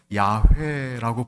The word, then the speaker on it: 야훼: 그래서 여호와라고 발음하기도 하고 어떤 사람은 야훼라고 부르기도 합니다.